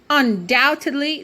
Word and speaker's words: undoubtedly: advert beyond question ok undoubtedly the beat is silence when we pronounce the word we do not say the B in it ok and undoubtedly means